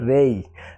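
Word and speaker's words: ray: হবে না, হবে কি রেই। তবে আমরা বাঙালি যারা বাংলাদেশ অথবা ভারত এরা কিন্তু রে উচ্চারণ করি, কিন্তু উচ্চারণটা সঠিক উচ্চারণ হচ্ছে রেই, রেই।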